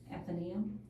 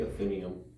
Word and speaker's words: Athenaeum: there was a Chris Kindle market at the Athenaeum. How do you say that? I say Athenaeum.